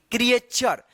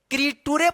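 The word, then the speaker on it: creature: पढ़ना चाहिए ना क्रटूरे अगर आप पढ़ रहे होंगे क्रिटुरे तो यहां पे ध्यान रखिएगा कि यहां पे जब भी अक्षर में टी यू और लास्ट में आर ई रहता है लास्ट में आर ई रहता है और उससे पहले अक्षर टी यू रहता है तो इस टी यू का उच्चारण च होता है।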